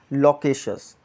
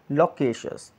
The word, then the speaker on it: loquacious: तो आप उसके लिए एक अप्रोप्रिएट जो वर्ड आता है which is लोकेशियस. लोकेशियस. LOQUACIOUS. सी the pronunciation, लोकेशियस.